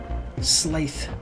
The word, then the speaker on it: Slaith: It rhymes with Wraith. Slaith.